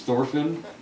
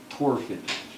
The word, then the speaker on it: Thorfinn: Okay, so so it's Simon, and then his associate is Thorfinn, actually it'd be Torfin, Thorfin. Torfin. DH is silent.